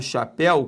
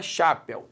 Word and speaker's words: chapéu: Quando eu falo chapéu, concentre. Primeiro, o el é aberto, senão seria chapéu. Segundo, o el está na sílaba tônica, porque senão seria chapéu. Não é chapéu, é chapéu.